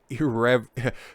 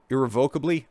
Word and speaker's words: irrevocably: their lives have been irrev completely and totally irreparably I didn't pronounce that right but I got close Okay irrevocably there it is changed for the